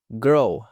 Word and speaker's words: girl: Girl, girl. Sempre que temos esse R e esse L aqui, você tem que finalizar esse L lá no seu céu da boca.